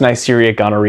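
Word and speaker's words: Neisseria gonorrhoeae: a sexually transmitted infection caused by the bacterium neria gari sometimes pronounced neria Gori now I mentioned most commonly sexually transmitted because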